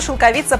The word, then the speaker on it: шелковица: быть он не местный слова шелковица произносится верно именно так это очень-очень и очень распространенная ошибка наверное единицы произносит это слово правильно а если неудобно произносить